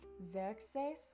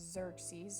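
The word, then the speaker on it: Ξέρξης: it's gonna be balchus eight is gonna be zerexes which we would known as xerxes if you've ever watched three hundred for number nine it's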